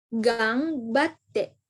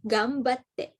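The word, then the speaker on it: がんばって: Kecuali kalau misalnya di belakang eng-nya ini ada huruf lagi seperti gang batte. Itu nggak dibaca eng, tapi gambatte. Karena depannya ada ba nih, ya kan? Jadi bacanya adalah gambatte gitu, teman-teman.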